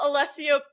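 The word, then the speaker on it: Alessio: Um, friend of the show, Allesio Picariello, as he told us to say it.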